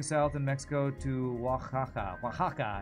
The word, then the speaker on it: Oaxaca: Oaxaca, I think is how you say that.